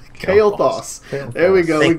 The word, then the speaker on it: Kael'thas: But don't pronounce his name wrong or he'll flay you. Okay? I'll say it again. Three times. Remember this. Kael'thas. Kael'thas. Kael'thas. Kael'thas.